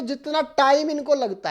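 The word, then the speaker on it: tau: क्या बोला जाता है टा ताऊ मत बोल देना ऊ हमारे यहां बड़ा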